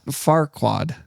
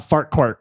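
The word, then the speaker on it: Farquaad: How do you say his name? That Farquad. Farquad. Yes. Not Farquart.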